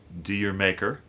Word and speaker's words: D'yer Mak'er: on uh "D'yer Mak'er" which I'm sure I'm pronouncing that uh differently than Led Zeppelin would. I believe in the UK they would say something like Jamaica which is actually what they intended it to sound like.